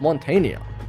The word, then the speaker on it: Montagne: Montagne is actually pronounced Montania. Montagne in French just to mountain.